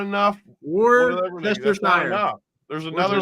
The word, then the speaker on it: Worcestershire: How do you say Worcestershire sauce?